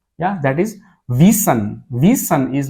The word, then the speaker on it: wissen: Yeah, that is wissen.